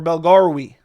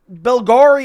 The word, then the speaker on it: Yousri Belgaroui: Next fight on the card, we have Azamat Bekoev versus Yousri Belgaroui, or Belgaroui, I think is actually how you say it.